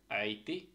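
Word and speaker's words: äiti: আছে ক্যাট একই এক্সাম্পল নিশেষে একটা শব্দ আছে আইতি আইতি আইতি আইতি ঠিক আছে আইতি যদিও এটা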